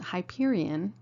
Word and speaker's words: Hyperion: health centers employee orientation our company name pronounced Hyperion comes from a redwood